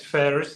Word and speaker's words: Ferris: Uh, my first name is Ferris. That's pronounced Ferris like like the wheel like Ferris wheel.